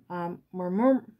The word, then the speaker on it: murumuru: I just couldn't pronounce this. It's murumuru. Like, mamur.